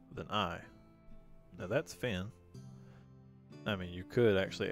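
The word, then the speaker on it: Fionn: fan next a fan it's spelled f-i-o-n-n and you're saying it's pronounced fin so let me teach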